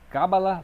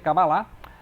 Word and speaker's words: cabalá: ou a cábala né também tem essa tem essa pronúncia cabala cabalá né cabala tem é difícil essa pronúncia mas geralmente é cabalá e aqui vai ser